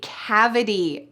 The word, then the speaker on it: cavity: There is a T at the end of this word, but in the US, we pronounce it like a D sound.